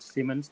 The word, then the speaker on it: Simons: And are there things that you're doing at Simons that might alleviate the problem?